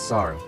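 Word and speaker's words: 猿: The Japanese pronunciation of the Chinese letter for monkey is saru.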